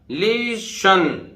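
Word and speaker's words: listen: ऐसे देखिए STEN, तो टी नहीं बोलेगा, लिशन, टी नहीं बोलेगा, साइलेंट है, लिशन।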